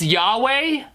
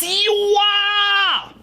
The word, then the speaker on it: Yahweh: Yeah, I'm pretty sure it's pronounced Yahweh. Oh, praise Yahwa.